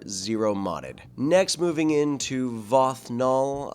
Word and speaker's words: Vox Null: modded next moving into vothnal I have been mispronouncing his name because I had it written in my notes Vox snow for the longest time of course as a